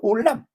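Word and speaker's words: עולם: 그래가지고 그것을 알람이라고 그랬다가 발음을 올람이라고 그랬어요. 그래서 올람.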